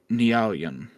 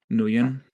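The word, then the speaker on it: Nguyen: remember new yeah Nan nuan okay yeah uh it's Vietnamese oh okay silent G okay uh following the interview after gaining approval from security Chief uh redacted starts with an H Dr nean began attaching stainless steel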